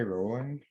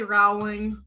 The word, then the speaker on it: Rowling: Rowling, but I think it is. I don't know. Some people say Rowling. I've heard it both ways. I'm more of a Rowling girl.